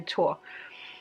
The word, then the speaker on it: Thor: There is a goddess named Sif, and Sif was married to Thor. Tor. I don't know how you pronounce it in other countries, but in Danish we say Tor.